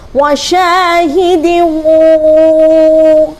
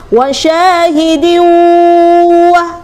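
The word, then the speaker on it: وَشَاهِدٍ وَمَ: Wasyahidimu. Nah, harus masuk ke rongga hidung. Ketika kita bacanya wasyahidiu, lah, kalau belum masuk ke rongga hidung, itu namanya belum termasuk bacaan gunnah.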